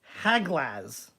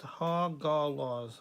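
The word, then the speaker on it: Hagalaz: It's Haglaz. No, it's pronounced Hagalos.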